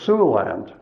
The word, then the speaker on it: Siouxland: with up with was sue land that's spelled s-i-o-u-x-l-a-n-d now what is it